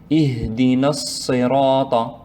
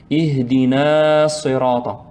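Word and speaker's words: اهدنا الصراط: Si on prononce le mot tout seul, on prolonge. Ihdina. Mais ici, on ne s'arrête pas, on va prononcer directement. Ihdina as-sirata. Donc, parmi les erreurs, il ne faut pas prolonger, il ne faut pas dire Ihdina sirata. Ihdina sirata. En plus, il y a deux erreurs. La personne a prolongé et en plus, elle n'a pas fait shadda de sad.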